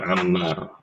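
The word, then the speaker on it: عمار: Ini ibu-ibu juga tulisin biar enggak isak tukar-tukar kalau saya perhatikan antara Amar, Umar dan Ammar. Kalau Amar, Amar ini kayak gini bentuknya. Ammar ya.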